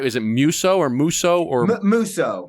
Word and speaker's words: Musso: Is it Musso or Musso or Musso? Musso. Okay. Yeah. People have been pronouncing it all kinds of different ways my whole life.